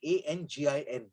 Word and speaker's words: Angin: the word they use is spelled A-N-G-I-N. They use it as Angin.